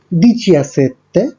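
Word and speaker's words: diciassette: আপনারা দেখতে পাচ্ছেন 17-এর ক্ষেত্রে উচ্চারণটা হচ্ছে দিচিয়াসেত্তে, 18-এর ক্ষেত্রে দিচিঅত্তো এবং 19-এর ক্ষেত্রে দিচিয়ান্নোভে, আর 20-র ক্ষেত্রে এই উচ্চারণটা হয়ে যাবে ভেন্তি।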